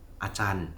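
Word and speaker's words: Ajahn: Lalu dia bilang begini, "Acan." Acan itu bahasa thainya guru ya. Bacanya pakai c acan ya. Walaupun tulisnya pakai J.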